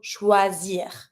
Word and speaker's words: choisir: Careful with the pronunciation on this one. O-I, wa sound. Wa. Then, you see here, my S is between two vowels. Every time that the S is between two vowels, Z sound. And then I-R, I pronounce my R, so choisir, to choose.